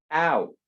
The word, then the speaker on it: out: También la palabra afuera, que es out, es O-U, out.